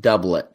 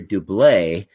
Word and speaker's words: Doublet: his name is pronounced doublet but he's English so doublet is the is the right pronunciation but I always called him Barry do bleh because he was from